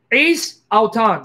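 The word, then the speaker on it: εἰς: No, not heis. I'm sorry, forget it. Don't pronounce it heis. Forget it. Lord, save me from error. Ace auton.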